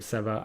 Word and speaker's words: Sefar: the lost city of sefar I gotta put an accent on the a I'm gonna leave myself a reminder actually or lost city of sefar as it was now